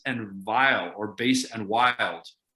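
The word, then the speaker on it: vvilde: Vile is wrong, brothers and sisters and others, wrong, okay? And I'll tell you why. Because if you look at the folio, it says things base and then the word is spelled V-V-I-L-D-E, okay? The editors in the 1800s thought that was vile. They're wrong. Base and vile mean the same fucking thing, right? Base and wild are different, and wild makes a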